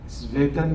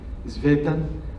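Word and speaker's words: Tzvetan: Se escribe como se pronuncia, Svetan con Z inicialmente, Svetan Todorov, el apellido es Todorov.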